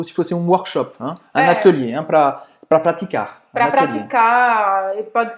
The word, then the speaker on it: atelier: Então presta atenção, porque a pronúncia não é igual. É parecida, mas não é igual. A gente fala atelier e no francês é atelier. Fechado. Atelier.